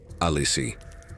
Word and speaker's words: Alice: Say it slowly, Alissi. Three syllables heavier than any iron chain.